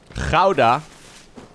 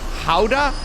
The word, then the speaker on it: Gouda: Gouda. Gouda, guys. Gouda. Gouda. Hey, snack man. I'm a snack man. It's not an H. What do you mean H? Howda? No. Not. That's Howda. No, it's Gouda.